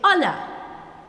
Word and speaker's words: hola: Hola, which means hello. So like what I told you before, the H here should be silent. You don't say hola, but you say hola.